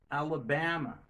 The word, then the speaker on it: Alabama: Non, moi accentuer sur ba. Alabama.